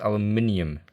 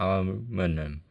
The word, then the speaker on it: aluminium: Yes, pronounced aluminium, not aluminum. Aluminium.